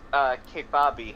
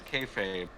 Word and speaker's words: kayfabe: uh they hated each other, like at least K-Fabi hated each other like K-Fabi. Is that how you for like pronounce that word? Well, it's Or- No, I kayfabe, thought it was but I yeah, don't. it's kayfabe.